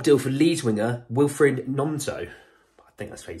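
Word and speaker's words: Gnonto: for lead Winger Wilfred nonto I think that's what he says I think it's a silent G um look Joe Rhoden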